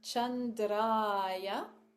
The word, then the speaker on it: Chandra: short a so Cham and then Chandra so we're going to spend some time on the A and the r uh in Sanskrit is a rolled kind of a rolled R so